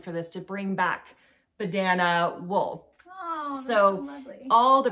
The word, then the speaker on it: Badana: This is the Badana, B-A-D-A-N-A hat from Retrosaria Rosa Pomar.